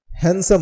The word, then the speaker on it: handsome: कई लोग इसे भी हैंडसम बोलते हैं, लेकिन इसका जो सही उच्चारण होता है वो हैंडसम होता है, HANDSOME। यहाँ पर D साइलेंट है और इसका अर्थ होता